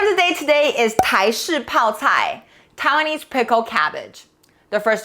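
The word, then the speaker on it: 台式泡菜: Chinese The word of the day today is “tai shi pao cai”, Taiwanese pickled cabbage The first 2 character ”tai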